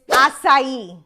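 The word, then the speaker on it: açaí: First, the correct pronunciation is acai.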